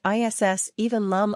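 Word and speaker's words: is aoibhinn liom: underscore underscore underscore underscore this phrase is pronounced ISS even Lum underscore underscore underscore underscore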